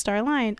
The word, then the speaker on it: Starline: And you could find me on Twitter at StarlineX and on Instagram as Starline. All pronounced Starline.